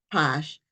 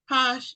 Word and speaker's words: Pache: Juliana and I believe her last name is pronounced Posh but she will correct